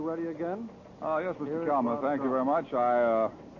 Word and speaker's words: Caen: of gravity in these reported military operations is K I'll spell that caen the big city at the base